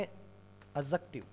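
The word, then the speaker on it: adjective: ऑल आपका या बनता है एडजेक्टिव, इसको एडजेक्टिव नहीं बोलना है, अभी मैंने समझाया था कुछ देर पहले, क्योंकि इसमें क्या साइलेंट रहता है, डी साइलेंट रहता है।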